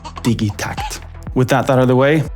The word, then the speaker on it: Digitakt: a combination of two Swedish words digital and tact that becomes digit TCT so anyone who says digit TCT they're just making things more complicated so please embrace your inner toddler and say it with me digy TCT with that that the